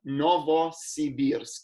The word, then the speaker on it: Novosibirsk: Yeah, we're in a city called Novosibirsk, which means New Siberia. Novosibirsk. That's how you sort of remember how to pronounce it.